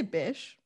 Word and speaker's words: Bish: so elegant or something am i even pronouncing it right as a beach or bish say bish okay all right i like